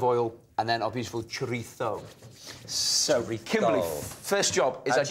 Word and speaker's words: chorizo: Okay, so we're going to make a seared salmon and chorizo salad.